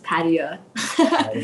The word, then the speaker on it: Padia: So the English pronunciation is Korea, like Korea with a P, but you're very close to the Farsi pronunciation, which is Padia.